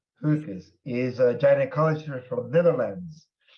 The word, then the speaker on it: Geukes: Professor Marije, and your last name pronounced? Geukes. Geukes. Difficult, Dutch. Okay. It's Dutch. Yeah, G is pronounced Geukes.